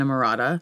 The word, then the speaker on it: Emrata: And you've done it through your brand and Emrata.